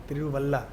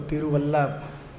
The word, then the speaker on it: तिरुवल्ला: तिरु अल्लाह पूजा correct तिरुवल्ला तो अभी उसको तिरुवल्ला उच्चारण करते हैं तिरुवल्ला पूजा तिरु वल्लभ